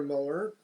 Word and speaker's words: Muller: Muller, but they pronounce it like Miller. Yeah. It's a funny pronunciation of Muller.